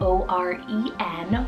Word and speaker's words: Oren: Oren, spelled O-R-E-N, Oren, another wonderful nature name and like a O name.